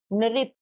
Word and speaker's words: नृप: तो री की मात्रा को हम री करके ही प्रोनाउंस करते हैं, तो न री प, नृप, ठीक है।